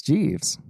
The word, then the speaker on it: Jeeves: And it's Jeeves. Yeah. Ask Jeeves.